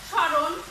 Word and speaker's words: স্মরণ: আর আরো আছে তোমার স্মরণ, এটাকে যদি উচ্চারণটা লেখা হয় তাহলে কিভাবে হয়? স্মরণ, মানে ছয়ের উপরে চন্দ্রবিন্দু, রণ, স্মরণ। অর্থাৎ নাকের চন্দ্রবিন্দুটা সাধারণত নাসিক্য স্বরে, তো নাকের বাঁশি থেকে উচ্চারিত হয়।